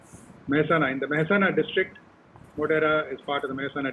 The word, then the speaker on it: Modhera: talk will be about so let's look at moderate the place just to let you know i'm